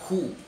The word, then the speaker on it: who: Pertanyaan dalam bahasa Inggris itu ada yang mulai dari kata who, W-H-O. Walaupun tulisannya ada W, tapi tidak dibaca W-nya.